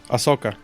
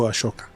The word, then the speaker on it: Ahsoka: a sock on this how do you say your name is i'm saying it right ahsoka okay yeah my dyslexia wants to go ashoka no what do you